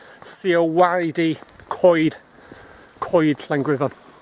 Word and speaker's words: coed: we've done it's time for a Welsh lesson coid is wood van means and it's c-o-e-d it's not pronounced coed it's pronounced as if you're saying seal Whitey coid coid language lessons in my walks anyway head